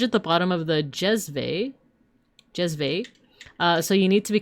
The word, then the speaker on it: jezve: Like I love to make Turkish coffee in a stovetop in a copper jezve, pronounced jezve, and drink it in tiny cups.